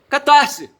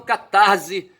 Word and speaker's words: catarse: No caso aqui de catarse, ele está entre uma consoante e uma vogal, então não se aplica a regra do som de S como Z, entendeu? Então a palavra catarse se pronuncia catarse, tá certo? E não catarse, como querem alguns.